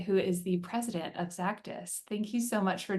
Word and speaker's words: Xactus: everyone has heard of zactis and it is pronounced like Z zus with a z so think about Cactus with a z zus we hear a lot of exactus and for those of